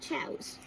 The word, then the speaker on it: Chao: So So again, basically, chows or more is still pronounced as chows.